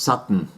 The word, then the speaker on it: Satan: ox who wouldn't behave his name was satan pronounced sutton and i remembered him